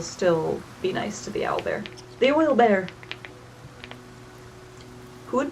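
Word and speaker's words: owlbear: to go talk to the owl bear, the oil bear. Sorry, I'm supposed to say it like that now since apparently that's what it's called.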